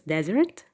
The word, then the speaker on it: desert: is desert desert and the stress is on the first syllable it is not on the second because of your stress in the second syllable you are going to change the meaning fine it's desert not dessert fine okay uh the